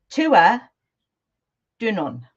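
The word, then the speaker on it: Tuatha Dé Danann: Uh, so the thing the name that everyone seems to call them is the Tuatha Dan. Yeah. However, you can also pronounce it Tua Dunon. Tua Dunon. Yeah, apparently.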